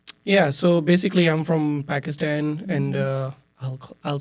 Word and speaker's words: Pakistan: Yeah, so basically I'm from Pakistan, and I'll say it, Pakistan, just the way my daughter says it. Like, why you call it Pakistan? It's Pakistan.